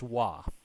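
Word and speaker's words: は: okay so with this wah here that basically this sentence here saying i am a teacher so it's not read as in watashi watashi ha sensei right it is read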